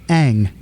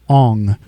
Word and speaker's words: Aang: live-action adaptation movie is the name pronunciations they did wrong oh yeah they they and they had material for the names like in the cartoon it's Aang in the movie it was Ong uh they call that